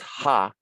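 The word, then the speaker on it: ḥꜣ: a papyrus bunch and then this is um pronounced ha h a half his and what ha means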